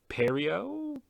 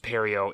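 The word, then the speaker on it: Pierrot: tell that uh Studio perio pair I think it's pronounced perio it's got a t at the end it might be French I know the Japanese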